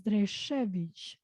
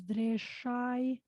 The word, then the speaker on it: Dreshevich: well, the authentic pronunciation is Dreshevich, Dreshevich. But Okay. then there is also like the Albanian version, as I call it, which is Dreshai.